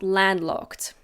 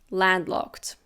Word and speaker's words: landlocked: Now we have landlocked. Landlocked. Again, we don't pronounce the D in the middle very clearly. Landlocked.